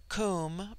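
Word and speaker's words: Koom: immortal spirit vidya immortality comb pronounced like the welsh comb denotes something of hollowness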